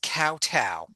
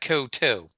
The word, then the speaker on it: kowtow: All right, so this is Batman Season 2, Episode 30, The Bats Kowtow. Or is that Koto? now it's kowtow. Okay. The Bats Kowtow. It's got to rhyme with meow.